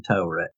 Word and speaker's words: Taweret: correct her by pointing out that it's actually Taweret.